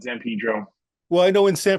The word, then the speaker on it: San Pedro: call it cabillo uh should be San Pedro but yeah we call it Zan Pedro well I know in